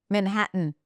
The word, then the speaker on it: Manhattan: Manhattan.